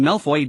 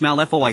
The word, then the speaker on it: Malfoy: Malfoy in French Malfoy signifies evil or harmful, and its pronunciation echoes the word malform.